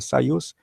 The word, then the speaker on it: Soyuz: É por isso que as primeiras naves espaciais, e até hoje, por exemplo, a Soyuz, se pronuncia Soyuz, tem 3 cosmonautas, para responder aos americanos, que colocaram 3 astronautas como meta, tá?